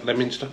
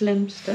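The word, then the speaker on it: Leominster: SS strange ER Island ER Island in near lemonster lemster lemonster lemster lemonster lemster you're pronouncing it wrong it's not it's lemster I be you SW us there nobody there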